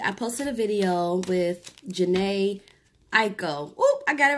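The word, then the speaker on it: Jhené Aiko: So yesterday I posted a video with Jhene, Aiko.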